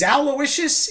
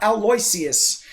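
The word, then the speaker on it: Aloysius: continuous misspelling of aloicious because it is aloicious it is not aloisius it is spelled a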